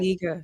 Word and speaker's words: La Spiga: Spiga.